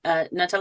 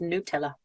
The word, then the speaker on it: Nutella: Also, to hark back to previous facts around pronunciation, Nutella is actually pronounced Nutella. What? Yep. But it's nuts. It's supposed to be pronounced Nutella. Because it's the but Nutella. It's not English. It's Italian, I guess.